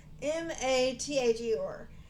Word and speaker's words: Mather: It's Mather.